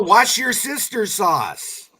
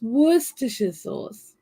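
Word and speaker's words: Worcestershire: just said wor sauce you say how you say it wor ch ch no it's worst sauce I know yeah worst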